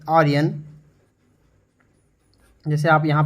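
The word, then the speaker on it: Orion: और general ओरियन जो है इसका प्रोनाउंसिएशन है ओरियन, ठीक है।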